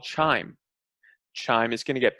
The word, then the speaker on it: chyme: I thought it was chyme.